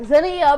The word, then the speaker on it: Zenia: it's her birthday and she mispronounced that and she's like zenah happy birthday zah and so I'm just shaking ass being like Zenia but thank you so